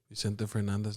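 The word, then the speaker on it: Vicente Fernández: oh Vincent how do you say his name Vicente Fernandez 95.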